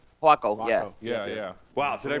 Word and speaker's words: Huaco: Waco? Huaco, yeah. Yeah. Wow, did I pronounce something right?